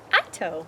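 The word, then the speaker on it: ITOW: And it was like, well, the truck's towing Talo. Ito. Ito. Because that's what he does. And we spell it I-TOW.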